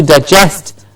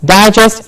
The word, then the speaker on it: digest: I am going to digest what I have just eaten yes digest and they're just difference in their stressed syllable please remember it's very